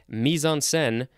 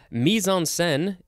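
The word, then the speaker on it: mise-en-scène: here's the synonym information background setting environment milieu misonsen mean the place time and circumstances in which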